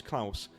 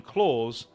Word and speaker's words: Claus: goes by the name Claus, and no one has ever and no one has ever corrected her. Right. So, I've been saying it wrong. His name is Claus, as in Santa Claus.